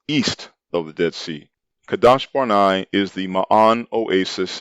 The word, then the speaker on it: Kadesh: terrible piranha wilderness northward to kadash barnai mispronounced kadesh which is located in the